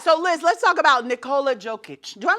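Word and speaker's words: Nikola Jokić: So Liz, let's talk about Nikola Jokic.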